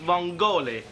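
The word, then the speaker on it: vongole: I think you'll find it's pronounced vong GOI isn't that right Paul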